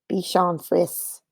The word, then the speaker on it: Bichon Frise: 2020 said, it's pronounced Bichon Frise.